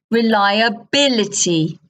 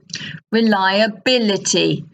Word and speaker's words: reliability: reliable reliable unreliable unreliable but listen reliability reliability reliable reliable reliability reliability so that's a good one